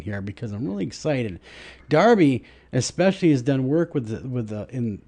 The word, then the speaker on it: Darby: I am pronouncing your name correctly. Right, sir? Darby?